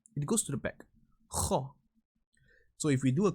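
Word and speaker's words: خ: Kho, you need to make sure your throat vibrates. Kho. It goes to the back. Kho.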